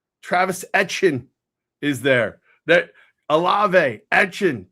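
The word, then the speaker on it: Etienne: and your boy and I'll say his name right Travis Etchin is there that all Etchin Kamar like Tyler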